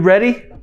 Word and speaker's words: ready: O destaque vai nessas duas letras aqui, ó. E-A. Re.